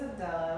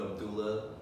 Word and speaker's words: Abdellah: my spelled his name my name is spelled with an E because e is pronounced uh in French and Algeria which is where my parents are from it's a former French Colony so like that's how